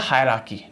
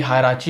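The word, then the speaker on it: hierarchy: ये होता है हायरार्की, ठीक है, हायरार्की, श्रेणीबद्ध अनुक्रम होता है, ठीक है, इसको बोलते हैं हायरार्की, ठीक है, ना ही हायराची होता है, ना ही हिराची होता है, ना हिरैकी होता है, हायरार्की, ठीक है, हायरार्की।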